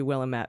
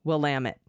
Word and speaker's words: Willamette: Evan, I hope I can remember that because it looks like it should be Willamette, but it's Willamette, damn it.